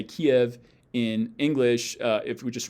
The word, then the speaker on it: Kiev: and like i said we would normally say kiev in english if we just write it out